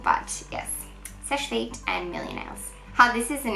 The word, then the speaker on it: Seche Vite: I'm always getting comments from you guys saying that I pronounced it wrong, but yes, Seche Vite and Millionaires.